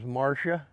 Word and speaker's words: Marcia: Simpson trial because the lawyer was Marsha and her name is spelled m-a-r-c-i-a so that's my mother's